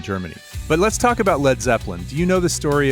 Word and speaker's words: Led Zeppelin: And then they actually spelled it LED so that it wouldn't be pronounced lead, because LEAD could be... That's smart. Yeah. So you definitely had to say Led Zeppelin.